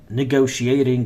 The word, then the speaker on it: negotiating: negotiation negotiation negotiating yes look at this D we can read it as d letter d why because in American between two vowels a and I we can change T to D so understanding negotiating negotiating